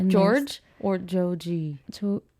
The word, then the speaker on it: Joji: Like and George or Joji? George? Don't you pronounce it Joji?